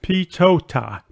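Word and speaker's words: PTOTA: vk3 SRC it's called public transport on the air pronounced pitotah and it encourages students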